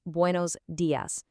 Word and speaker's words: buenos días: In Spanish, that's buenos días. Notice how that i in días is super sharp, just like the word fee.